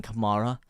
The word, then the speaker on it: Kamara: it Mo or Glen Kamar it is Glenn Kamara obviously leads used to be linked with linked with moara spelled with a c not a k some of